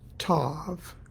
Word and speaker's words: Tav: Hebrew letter TH or Tav okay to pronounce Tav you have to stick your tongue under your front teeth top front teeth and in order to